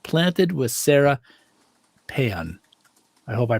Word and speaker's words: Payan: I'm going to say this is Sara Payan, and her podcast is called Planted with Sara Payan. Is that how I pronounce everything? Payan. Payan or Paya? Payan. You got it.